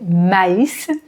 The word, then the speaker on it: maïs: l'infinitif du ma is ici tréma sur le i pour bien différencier la prononciation pour ne pas dire mais mais maïs pour le goûter ici